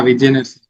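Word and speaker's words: Vigenère: it's a stream cipher, and that how you pronounce that? Vigener, that cipher, that is also a stream cipher. Yeah, Vigener.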